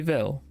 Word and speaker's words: Vil: vilhelm but you can call me Vil v i l it's a VV yeah a lot of people get the name wrong and understand it's very it's heavily European